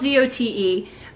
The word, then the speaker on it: Zote: Now, it's spelled Z-O-T-E, but I've heard that it's actually pronounced Zote. I don't know Spanish, but it is a Spanish word for soap, is my understanding.